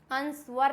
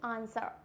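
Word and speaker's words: answer: silent कब होता है एस के बाद डब्लू साइलेंट होता है एस होगा और जस्ट बाद में अगर डब्लू आ रहा है इट मींस यहां पे डब्लू हो जाएगा silent for example आंसर sword क्या हो जाएगा आंसर स्वर्ड अंसवर नहीं होता है ये इट मींस आंसर क्लियर हो गया नेक्स्ट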